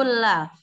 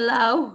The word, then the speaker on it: laugh: What makes you laugh? Laugh. Laugh. Laugh. You laugh. Laugh. You laugh. Bukan lauh ya. UGH itu nggak dibaca enggak. Tapi F.